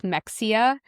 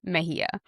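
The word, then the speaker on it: Mexía: And so in some places or sometimes it will sound like Mexia but like she's from Mexico so it's pronounced in Mahia but I just wanted to say that.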